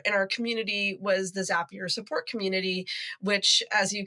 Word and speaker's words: Zapier: it right it is zapier for anyone listening zapier does make you happier that's the way to remember how to pronounce it um and I came